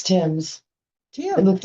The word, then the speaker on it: Thames: It's Tim's. Tim. It looks like, yes, English River Tim's. Thames. Well, now I'm confused. Tim's or Tim's? Tim's. It's Tim's. It's Thames. Okay, like the river Thames.